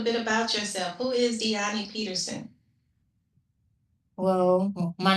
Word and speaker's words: Dyani: It's Danny, right? Diani. Diani. Okay. Diani almost rhymes with Leilani.